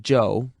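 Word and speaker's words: Chou: Joe is amazingly Cooperative Joe spell it c h o u if you want to be exotic it still pronounced Joe and that's his name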